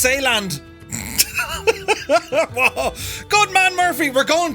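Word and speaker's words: Zeeland: and uh oh no zealand is pronounced saland good man murphy we're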